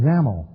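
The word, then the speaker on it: XAML: XML declarative language called ZAML. XML. I guess this is the same X that's in X lang, but instead pronounced as a Z over here and an X over there.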